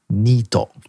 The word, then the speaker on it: NEET: He introduced this word to me during that episode, and that word is NEET, or pronounced in Japan, Nito.